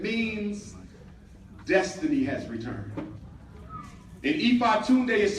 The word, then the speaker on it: Ifatunde: Umar Ifatunde. Ifatunde is a Yoruba name that was given to